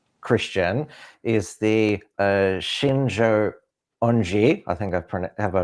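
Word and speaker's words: Shincheonji: So another South Korean cult based on Christianity, or says it's Christian, is the Shinjo Onji. I think have I pronounced that right? Shinjonji, yep.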